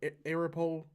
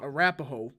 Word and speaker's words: Arapahoe: uh Adams or Jefferson that is pronounced uh Arapahoe for anyone I I try to I'm just trying to read it for a second I was like Arapaho Arapahoe you pronounced it right wait am I supposed